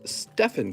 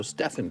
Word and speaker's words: Stephen: nicholas lenhart all right mistress pronounced stefan curry get it right oh i'm sorry it could have been pronounced either way i just didn't know so stefan curry sorry thanks for correcting